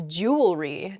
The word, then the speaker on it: jewelry: that word mispronunciation uh where the word kind of gets a little bit smushed together and we say jewelry instead we miss that that second e sound in there it should be jew